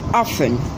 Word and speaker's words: often: Often. It possesses a silent letter T, so it's rightly pronounced often, not often.